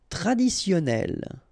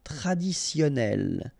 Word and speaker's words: traditionnel: Traditionnel. Okay, so you've got double N here. Traditionnel. Onel. Onel. Traditionnel.